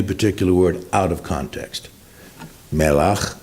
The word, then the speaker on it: melach: Melach, melech, salt, king.